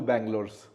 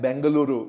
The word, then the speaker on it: Bengaluru: that there are two Bangalores know Bangalore the English pronunciation of the word and Bangaluru which is really the official name right now.